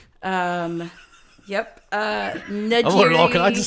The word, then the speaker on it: Njeri: gymnastics, they called me Ninja Jerry. Yep. Njeri, I'm learning all kinds of stuff already. Njeri, Ninjeri. The people are just throwing letters in there that aren't there.